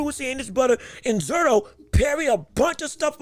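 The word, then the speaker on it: Zurdo: I've been saying his name wrong. It's not Zerudo though I like the way it sounds. Zero.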